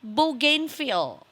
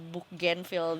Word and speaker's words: Bougainville: Namanya adalah Bougainville. Ini kalau nggak salah sih cara bacanya kayak Bougainville the flower.